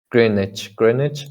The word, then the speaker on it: Greenwich: Greenwich, meantime.